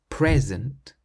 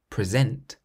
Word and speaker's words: present: But if you stress the second syllable, present, it means to give something to somebody, to present, or to be the presenter of a TV show. I'm going to give you a present tomorrow.